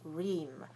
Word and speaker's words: ream: So, if I say the word that means 500 sheets of paper, I say ream.